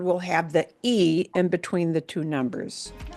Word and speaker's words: y: The word and in Spanish is the sound E. E, which by itself is usually spelled as the letter Y, but it's pronounced as E.